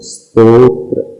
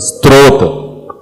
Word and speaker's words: स्तोत्र: क्या पढ़ रहे हैं स्त्रोत स्त्रोत भी नहीं है स त दिन त्र है आप बोल रहे है इसमें तो फिर त आ रहा है देखना हां स्तोत्र हां स्तोत्र उसमें एक लेटर और